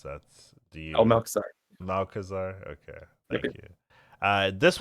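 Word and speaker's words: Malchezaar: I don't know how to pronounce that. Malchazar.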